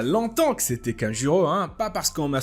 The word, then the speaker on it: Kanjuro: Donc, la dernière fois les amis, c'était la grosse révélation Kanjuro. Voilà, pour les gens qui me disent que c'est pas Kanjiro, mais c'est Kanjuro, bah, vous m'excuserez, mais Kanjiro, c'est vraiment facile à prononcer que Kanjuro.